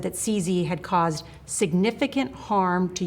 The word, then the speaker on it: CZ: Well, Norah O'Donnell asked Trump about a recent pardon of a crypto billionaire, Chongpeng Zhao, who goes by CZ, rhymes with sleazy, and Norah pressed him on that.